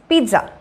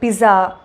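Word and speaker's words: pizza: ஸோ எப்படி இதை கரெக்டாக ப்ரொனவுன்ஸ் பண்ணோம் அப்படின்னா, திஸ் இஸ் பீட்ஸா, அதாவது பிஇடி சா பீட்ஸா. நிறைய பேர் வந்து பிஸா பீஸா அப்படி இப்படின்னு சொல்லி தப்பு தப்பாக ப்ரொனவுன்ஸ் பண்ணிகிட்ருக்காங்க. ஸோ இது வந்து பீட்ஸா.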